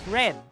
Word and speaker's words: read: read the manual but do not forget to pronounce it as red to indicate that it happened in